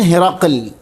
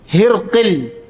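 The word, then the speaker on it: هرقل: അപ്പോ ഹിറക്കൽ എന്ന് പറയുമ്പോൾ ഈ വാക്കിന് രണ്ടു ഉച്ചാരണ രീതിണ്ട് ഒന്ന് ഹിറക്കൽ ഹിന് കസ്റും റിന് ഫത്ഹും കാഫിന് സുക്കൂനും രണ്ടാമത്തെ ഉച്ചാരണ രീതി ഹിർൽ റിന് സുക്കൂനും കാഫിന് കസ്റും ആദ്യത്തെ ഉച്ചാരണ രീതിയാണ് കൂടുതൽ അറിയപ്പെട്ടത് അദ്ദേഹം തർജുമക്കാരനെ വിളിച്ചുതർജുമാ മറ്റു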